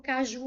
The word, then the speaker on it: caju: Ó, caju. A sílaba tônica forte é a última. Ela é uma palavra oxítona. E e é uma oxítona que terminou em U.